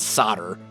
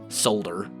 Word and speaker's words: solder: live Americans pronounce it solder uh Europeans solder or solder or something like that we in America we pronounce it solder even though the L is there the L is silent because American English I I don't know